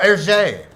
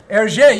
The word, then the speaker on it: Hergé: Oh, Hergé. Hergé, yeah.